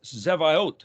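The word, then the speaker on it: צבאות: point of this is the word sabioth if you have no reference to Hebrew you might think it's Sabbath but that's even a Hebrew word and so how do you know well I'm telling you it's zevayote zavot zadi bet alef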